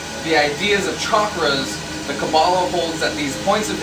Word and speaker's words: Kabbalah: cabal or the kabbalah it's spelled kabbalah but it's pronounced cabal uh pronoun i believe